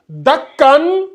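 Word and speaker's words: دكا: Et on prononce bien. On dit dakkan, Dakka. Est-ce que tu vois?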